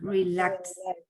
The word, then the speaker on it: relaxed: Okay, so in this case, the correct pronunciation will be as a T, relaxed.